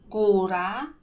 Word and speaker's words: góra: Hoy vamos a ver los ejemplos con dos vocales con la misma pronunciación.